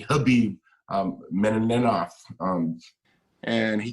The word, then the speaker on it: Khabib: There's fighters like Shnie Bones Jones, uh Conor McGregor, uh was it I keep saying Kabib, but it's actually Khabib um Menov.